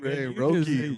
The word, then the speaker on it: Roki: Roki.